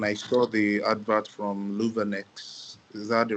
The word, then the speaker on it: Luvanex: So when I saw the advert from Louvenex, is that the right pronunciation?